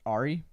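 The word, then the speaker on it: ARRI: do you say it Ari I say Ari I say Ari okay because it's Arnold and RoR yeah so like R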